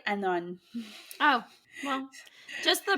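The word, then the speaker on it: Annwn: Welsh otherw world and I said like anwin or something like this which is freaking inconnect incorrect completely it's more like Anon oh well just the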